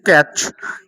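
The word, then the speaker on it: catch: যেমন এখানে কয়েকটি শব্দ দেখো: সিএটিসিএইচ ক্যাচ, এমএটিসিএইচ ম্যাচ, পিআইটিসিএইচ পিচ, ডিআইটিসিএইচ ডিচ, অর্থাৎ টি এর পরে প্রত্যেকটা শব্দে কিন্তু সিএইচ আছে। তো এই কারণে কিন্তু টি এর পরে সিএইচ থাকলে টি এর উচ্চারণ হয় না।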